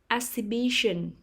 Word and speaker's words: exhibition: first syllable portrait portrait exhibition exhibition the stress is on the third syllable exhibition exhibition crayon crayon